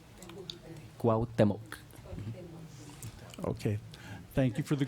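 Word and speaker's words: Cuauhtémoc: It's Cuauhtemoc. Cuauhtemoc.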